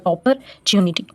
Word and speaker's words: opportunity: अपॉर्चुनिटी इसे हम pronounce करेंगे ऑपर, OPPOR, अपॉर्चुनिटी।